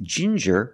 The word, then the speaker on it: ginger: you have different pronunciations with ginger we use the J sound like juice and jump J and the regular N Ginger Ginger people like to drink